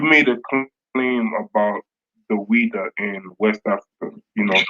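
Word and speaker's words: Ouidah: I think it's XWEIDA, and I think it's pronounced Ouida. Ouida.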